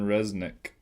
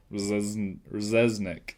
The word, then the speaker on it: Rzeznik: My next one, Goo Goo Dolls, John Resnick. Rzeznik. How do you spell it?